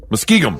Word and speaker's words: Muskingum: Muskingum? Close. Muskingum. Yeah, Muskingum. Muskingum.